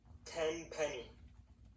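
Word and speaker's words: Tenpenny: Ten Penny.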